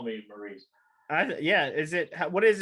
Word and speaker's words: Maurice: want to make sure this is called maurice and not but a lot of people say it both ways so there you go but i'm going to say call me maurice yeah is it what